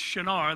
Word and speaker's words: Shinar: Babylon specifically to Shinar it's shanaar that's how we would properly pronounce it shanaar is the place where